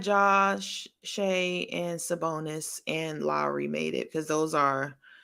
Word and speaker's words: Lowry: me, and it's pronounced Lowry. I know. Someone told me it's pronounced Lowry. Lowry. That's what they told me.